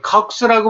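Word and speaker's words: COX: 그래서 보통 시클로옥시게나제는 학계에서는 그걸 컥스라고 발음합니다.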